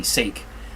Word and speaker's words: sake: It's spelt S-A-K-E, sake, but it's pronounced sake.